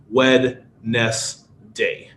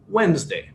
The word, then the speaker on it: Wednesday: people even native English speakers Wednesday would be wedness day it's not pronounced that way but it's just how how it is wedness day Wednesday Okay so chunking is a good way to